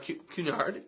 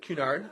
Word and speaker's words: Cunard: us and so there's an awesome company called cunyard Cunard I always mispronounce it Cunard and people do this regularly